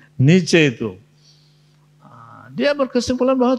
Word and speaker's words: Nietzsche: Iya kan Niet misalnya atau Niets Nietse bacanya itu ya ada yang alumni Jerman di sini Nietzsche itu ah dia berkesimpulan bahwa Tuhan itu tidak ada.